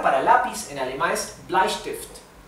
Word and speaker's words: Bleistift: Bueno, la palabra para lápiz en alemán es Bleistift. Bleistift. Recuerden siempre que la E con la I se pronuncia AI y la ST se pronuncia ST. ST. ¿Bien? Al igual que la SP es ST. ¿Bien?